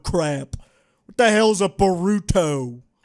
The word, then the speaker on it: Boruto: What the hell's a Boruto? It's actually pronounced Boruto.